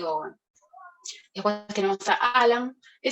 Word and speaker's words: Ogham: En realidad la G no se pronuncia, Ogham, Ogham.